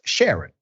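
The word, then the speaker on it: Charon: a r o n is pronounced Sharon like with the S unless you're French thank you for the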